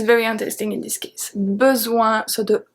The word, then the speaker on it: besoin: Zoin, the S make a Z sound, and O-I-N make the sound ouin, ouin, ouin.